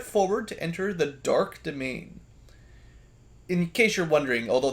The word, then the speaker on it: demesne: Step forward to enter the Dark Domain. In case you're wondering, although that word may look unfamiliar, you might think it's Demesne or something. It is pronounced just domain, but it is one